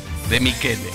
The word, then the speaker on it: De Michele: Tomás y Beba, De Michele. Lo pronuncié en italiano.